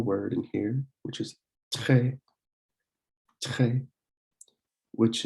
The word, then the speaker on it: très: And the R in French isn't a r sound. It's a it's kind of a little sound in the back of your throat where you push your tongue, the back of your tongue. You want to push the back of your tongue or close your throat a little bit so that it just lets air through and it comes out.